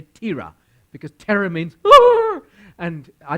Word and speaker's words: Terah: te RA H and my wife thinks you say terror but I don't think I would say Tara because terror means and